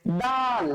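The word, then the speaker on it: دال: ডাল কি বলবো আমরা? ডাল। ডালের উচ্চারণটা বাংলাতে লিখলে কিভাবে লিখতে হয়? দ দিয়ে লিখতে হয়। তো দয়ের উচ্চারণ আপনি যেভাবে করেন দ, আপনি যেভাবে করেন ঠিক সেভাবে উচ্চারণ করবেন ডাল, ঠিক আছে স্যার?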